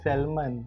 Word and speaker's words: salmon: My favorite food ever, salmon. Salmon. Confident. Confident. Yes. Alright! I say the Singaporean way, right? Singaporean what? Salmon. But got L. Then the L for what? Silent L.